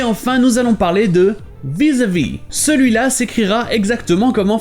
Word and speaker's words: vis-à-vis: Par contre, ça se prononce pratiquement comme en français, à part que le A se prononce E. Vis-à-vis.